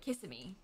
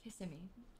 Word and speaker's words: Kissimmee: I know that Sasha and her family always called it Kissimmee because they didn't know. But Kissimmee is what the people around here say.